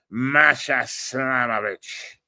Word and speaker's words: Masha Slamovich: Masha Slamovich. That's how what is the guy, the announcer for TNA says it, by the way.